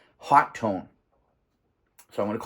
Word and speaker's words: Hotone: the uh the the the pronunciation convention these days has been hot tone so I'm going to call it a hot tone it is a hot